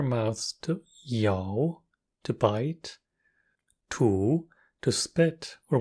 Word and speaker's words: 吐: Furthermore, we use our mouths to yao, to bite, tu, to spit, or when pronounced with the fourth tone, tu, it means to vomit.